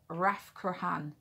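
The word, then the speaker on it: Rathcroghan: think the hillside where it's set is pronounced raph kurochan but morrigan's cave is raf krahan uh it's spelled a r-a-t-h-c-r-o-g-h-a-n and um that is where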